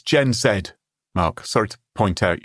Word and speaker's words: Gen Z: eyewatering tariffs, China has responded forcefully with the Gen Z equivalent of a strongly worded letter to the UN, a social media video trolling America. It's Gen Zed, Mark.